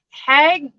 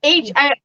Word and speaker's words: Haig: Matt, is it Hag? It's Haig.